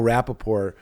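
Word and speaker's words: Rapaport: Cuz if you say it wrong, they told me uh Michael Rapapore. Uh I I don't say the T's. Just a classy name. Rapapore. You know what I mean? Don't say that T.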